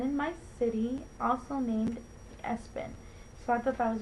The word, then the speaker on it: ESPN: went out there um the next one is ESPN um pronounced Espen Malachi maau now Malachi